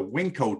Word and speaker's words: Winko: that's how what the WinCo test and that's spelled just like it like it sounds like wink with an O on it you if if you